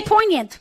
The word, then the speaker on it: poignant: Do you say the G poignant or No. poignant? No, you don't say the G. You say poignant.